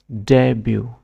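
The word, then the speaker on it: debut: বলে পাই কালারনি green colour stress red লেটারনি silent letter বিনি pronunciation জাগন ডবিউ ডবিউ pronounce আরবি আমেরিকান ইংলিশ প্রসিন স্ট্রেস স্ট্রেস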